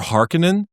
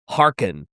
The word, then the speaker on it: Harkon: Did you say his name is Luthor Harkonnen? Harkon.